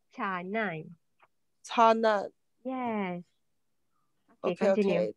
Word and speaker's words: canai: Saya pula suka makan roti kanai or canai? Pronounce C, what is it? Kanai. Are you sure kanai? Pronounce C, pronounce C. Kanai. No, pronounce C in Bahasa Melayu is cha, canai.